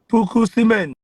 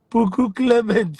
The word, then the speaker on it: Clement: Puku cement. Clements, not cement. Puku Clement, it's not cement.